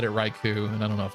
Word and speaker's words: Raichu: able to accept that ouu in Japanese is just o but in English Raichu is fine and the normal to be honest yeah I do think most people actually say Raichu from what I've heard